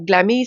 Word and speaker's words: Glamille: Glammy, ça s'écrit Glamille.